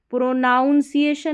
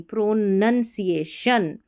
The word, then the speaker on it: pronunciation: सही उच्चारण करेंगे तो सही स्पेलिंग भी लिख लेंगे। प्रोनाउंसिएशन नहीं प्रोनंसिएशन डू not become do not become D आई